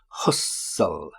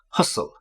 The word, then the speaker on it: hustle: the daughter hustle and be careful here with the pronunciation Hustle hustle hustle okay to hustle means to